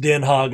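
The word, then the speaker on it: Den Haag: how it's spelled but somebody told me it's pronounced denhog well that is spelled denhog and it's pronounced den hogg i'm sure so why is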